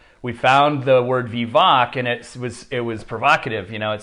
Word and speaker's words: Vivac: Oh, it's Vivac Winery.